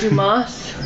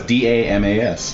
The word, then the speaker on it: Damas: Dumas. No, it's Damas.